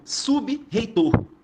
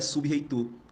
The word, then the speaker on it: sub-reitor: Você não pronunciaria sub-reitor, você pronunciaria subreitor, onde você transformaria esse B e R aí em uma espécie de dígrafo, onde modificaria completamente a sonoridade da palavra.